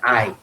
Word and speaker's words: I: la primera persona yo en inglés se pronuncia hay y aunque se escriba con una sola vocal en este caso no lo conoceremos como iu sino como ay esto recuerda algún ejemplo